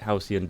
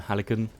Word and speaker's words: Halcyon: that has to activate Halcyon beacons also I pronounced that wrong in every other guide I call them helican so just ignore that